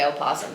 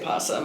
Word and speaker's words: opossum: I think it's entirely regional. Um, so some people might say opsum, some people might say possum. I say possum. Alexander. I always say pawsum.